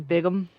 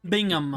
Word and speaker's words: Bingham: it spelled like this I'm hearing bigum bigum Bingham B Bingham okay I was hearing bigam Bingham The bigam Brew it's pronounced Bingham I know yes but